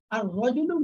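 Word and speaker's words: الرجل: র দিয়ে সূচনা হয়েছে এর শুরুতে আর আল আসলে আল নামটা স্পষ্ট উচ্চারিত হবে না, যেমন আর রজুলু লোকটি, আর রজুলু লোকটি, জাহরাতুন একটি শব্দ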